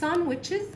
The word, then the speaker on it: sandwiches: eat sandwiches. خلي بالكم كلمة ساندويتشز الدي ما بنطقهاش سايلنت.